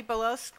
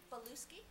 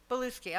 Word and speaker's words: Beluski: So pronounce it for me, please. Beluski. Beluski. Okay, I see. I hear an E there.